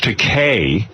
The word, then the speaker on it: Takei: Well, listen, we are thrilled to have you here, to have George Takei, which rhymes with okay, joining us again.